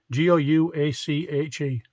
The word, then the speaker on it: gouache: G-O-U-A-C-H-E. Strange, isn't it?